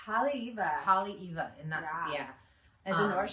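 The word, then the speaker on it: Haleʻiwa: Hale'iwa, and that's At the North Shore.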